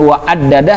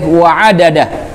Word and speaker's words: wa'addadah: Nah, di ain juga hati-hati, di wa'addadah itu huruf ain, bukan huruf alif, bukan wa'addadah tapi wa'addadah. Kemudian di huruf dal yang pertama itu ada tasydid. Kalau diperhatikan di Al-Quran ada tasydid. Maka cara membacanya juga harus ditahan, tidak boleh wa'adadah. Wa'adadah, salah, tapi harus ditahan. Wa'adadah.